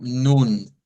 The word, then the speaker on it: nun: que se llama colon, nos indica un sonido de una U. Entonces debemos leerlo como nun, als nun, vendría siendo la pronunciación de esta palabra.